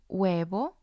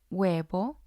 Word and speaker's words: huevo: For example, hombre, hombre, huevo, huevo, búho, búho. The H doesn't make a sound. It's just the vowel sound.